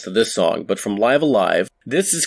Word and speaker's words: Live A Live: i've heard it called live a live but according to a couple of the podcasts i heard about shimomura the official pronunciation in english would be live alive we're going to talk